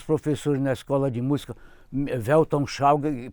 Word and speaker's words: Weltanschauung: na escola de música, Weltanschauung, pronunciado direito, quer dizer visão de mundo.